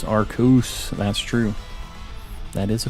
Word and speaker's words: Arceus: judge you but yeah Japanese it is not pronounced that way but to be honest that isn't even like the best it's arcuse that's true that is a fact definitely need